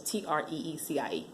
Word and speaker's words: Tracy: It's funny, my actual nurse during my whole pregnancy, her name was Tracy, and it was spelled like it was like Tracy, but it was Treeecie.